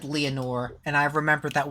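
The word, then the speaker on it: Lenore: I the reason that I clocked that it was the raven is because he said Leonor and I remember that what the raven says is never more which rhymes with Leonor.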